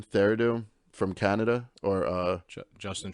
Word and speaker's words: Trudeau: feared uh how do you say his name theradu from canada or uh justin trudeau trudeau there you go he made a statement where